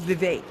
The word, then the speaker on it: Vivek: If you want to talk, it's Vivek. Is how you pronounce Yeah, that well, name.